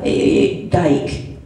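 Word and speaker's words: Gyke: It's G-Y-K-E, but it's pronounced the same way. Yeah, Geik.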